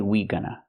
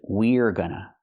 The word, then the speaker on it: we're gonna: I cannot say we gonna. We gonna. The pronunciation is we're gonna.